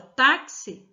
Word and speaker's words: táxi: nós pronunciamos a palavra taxi o som do x sai com som de KS bom então para segunda